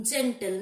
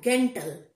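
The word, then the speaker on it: gentle: জি ই এন টিএল, জি এর পরে কি রয়েছে ই, উচ্চারণ কি দিচ্ছে দেখো জয়ের মতন, জেন্টল নট গেন্টল।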